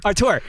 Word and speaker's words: auteur: It's auteur. Auteur. That's actually how you say it.